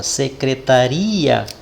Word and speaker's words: secretaria: Logo, de acordo com a pronúncia, a sílaba tônica é uri. Olha lá, ó, quando nós falamos a palavra secretaria, uri, ele se torna mais intenso.